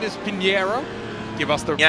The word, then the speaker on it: Pinheiro: Give us the proper actually, it's Pinheiro, but some say Pinheirinho, which is the more Brazilian pronunciation. It's not Portuguese, it's more us Brazilians how we call the corner name.